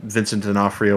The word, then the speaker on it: Vincent D'Onofrio: can never pronounce it pronounce his name it's vincent de fourio i believe is how you know vincent and afrio dinofrio that is yes have you seen that film no but uh vincent d'onofrio was a private pile in full metal jacket